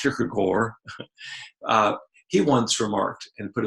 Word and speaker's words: Kierkegaard: man's name was Soren Kierkegaard if you speak Danish it's pronounced Kirk Kirk or he once remarked and